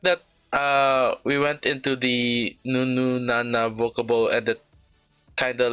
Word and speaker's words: Nun Nu Na: So that was Signature with Nunu Nana. Not to be confused with the song by some other singer called Nunu Nana. That's why I'm taking care to pronounce it that way.